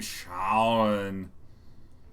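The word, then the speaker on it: Schaughwne: My name is spelled S-C-H-A-U-G-H-W-N-E. I'm Shawn.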